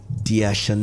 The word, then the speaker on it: Dea Shanay: ladies and gentlemen put your hands together for Di Shen did I get it right you did and